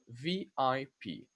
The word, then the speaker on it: VIP: Okay, so in English you say VIP. You pronounce it letter by letter, one at a time.